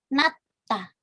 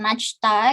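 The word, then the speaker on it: 낮다: Kita lihat contohnya ada natta. Jadi bukan najta gitu ya, tapi natta. Jietnya dilafalkan menjadi T.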